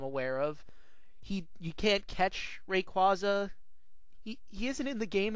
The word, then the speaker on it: Rayquaza: It was called Rayquaza, and I know the pronunciation is Rayquaza, but I think Rayquaza sounds better, so I'm not going to change my way of saying it.